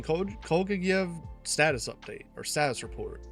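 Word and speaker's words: Kolguyev: Kolgayev, that's how you pronounce it.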